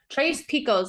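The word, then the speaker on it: Tres Picos: Trace Picos, that's what it is. That's the way you say it.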